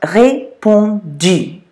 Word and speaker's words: répondu: So that's pronounced répondu. Répondu. Now I'm just going to take a break here and I'm going to slip in something about that sound U, because that's a hard one for English speakers to say.